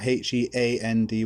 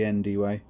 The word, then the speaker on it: Hendy: Is that Heandy or Hendy? Hendy. Hendy.